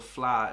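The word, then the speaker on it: Fleadh: We all play Irish musical instruments and go to the FLA every summer. Okay, that word is pronounced FLA to all the non-Irish people, okay? The FLA, yeah.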